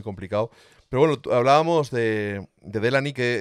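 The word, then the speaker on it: Delaney: pero bueno hablábamos de delany que He descubierto que se llama the Lane o algo así se pronuncia pero claro como yo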